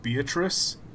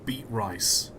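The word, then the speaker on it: Beatrice: this is my problem I know it's meant to be pronounced beatric but it's spell beet rice and I don't care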